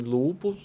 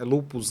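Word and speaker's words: lúpus: Então, em assim, uma conduta adequada seria o cara tem lá uma suspeita de que ele tem lupos, né? Lupus, né? O pronunci a pronúncia correta, ele tem lupos.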